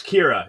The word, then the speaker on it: Kyra: I do know it's Kira.